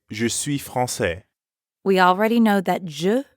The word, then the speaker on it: français: Instead, I'd say française. Française. Notice the change in the pronunciation, Française.